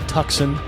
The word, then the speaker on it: Tucson: here in Helena Montana Tucson Arizona or tuckson Arizona depending on where you want to wear your pronunciation meaning get